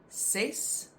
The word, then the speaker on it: ses: Ses, six. Six, six. The pronunciation in Afrikaans for six is six, just spelled differently, so it sounds the same.